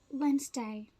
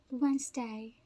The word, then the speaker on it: Wednesday: at the next one this one this is pronounced this way Wednesday Wednesday Wednesday this middle three letters are swall they